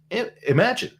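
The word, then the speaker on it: Imagen: a different model including imagine right uh imagin also known as imagin 3 I think the official pronunciation is Imagine but uh but I I I'm used to calling it imag so forgive me if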